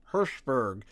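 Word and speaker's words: Hirshberg: publisher of Activision Eric herberg I'm sorry I'm sorry but can I just say that his name sounds like you're saying Hashburg but with your lips put together herberg I actually had to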